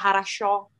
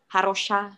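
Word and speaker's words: хорошо: Jadi harus sering-sering dengar orang ngomong apa kayak harasho. Kan bukan harosha gitu.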